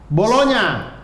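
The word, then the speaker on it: Bologna: G sama N itu jadi N sama Y. G sama N jadi NY. Jadi N. Dia kayak bolonya.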